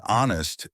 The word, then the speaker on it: honest: In honest, the H is silent.